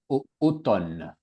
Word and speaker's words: automne: Donc on ne prononce pas automne automne automne automne automne. Le m pas beaucoup de gens disent automne mais pas automne. Automne pas de m.